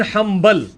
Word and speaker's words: حنبل: احمد بن حنبل, spelling کیا ہے ان کے؟ حنبل ہے لیکن پڑھا میم جاتا ہے, کیوں؟ با آ گیا نون ساکن کے بعد تو نون مکمل ختم ہو جاتی ہے.